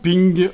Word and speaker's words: PNG: SW dot ping puisque PNG ça se prononce ping en anglais voilà donc dans dimension